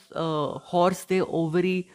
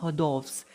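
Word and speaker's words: hors d'oeuvres: अगर आप इसको ऐसे सिंपल पढ़ेंगे तो आपको हॉर्स दे ओवरी आप इसको प्रोनाउंशिएट करेंगे, पर इसको बोलते हैं हदॉफ्स।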